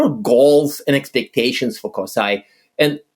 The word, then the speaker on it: CoSAI: I think COI is COSIA is the approved pronunciation of it.